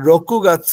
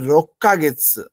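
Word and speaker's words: ろっかげつ: বানান কিন্তু খুবই ইম্পর্টেন্ট যেমন রকুগাচ্ছ দিতে পারে এখানে উচ্চারণ করতে হবে রক্কা গেচ্ছ হ্যাঁ তো উচ্চারণ যদি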